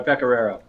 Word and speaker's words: Pecoraro: All right, it's Pecoraro. Okay, so everyone now, you have the correct pronunciation of his name.